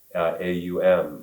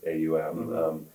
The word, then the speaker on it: Om: You might even see it printed A-U-M in Roman script, right? Or maybe you even hear a teacher pronounce it using a kind of English pronunciation of A-U-M, Aum, right?